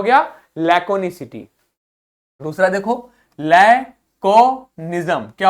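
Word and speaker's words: laconicity: लैकोनिसिटी। तो कैसे पढ़ना है इसको? लैक, देखो के बना है तो का बोलना है। लैक ओ निस ई टी, लैकोनिसिटी। क्या हो गया? लैकोनिसिटी।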